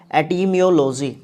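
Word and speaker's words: etymology: इस वर्ड का जो प्रोनाउंसिएशन होगा वो क्या होगा? एटिमियोलॉजी।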